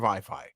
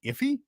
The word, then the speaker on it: iFi: to him and say, what's the pronunciation? Is it iffy? Because it looks like iffy. But then, yeah, iFi.